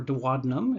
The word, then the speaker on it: duodenum: organ you're looking at the duodenum or duodenum if you want to use the british pronunciation and this shows us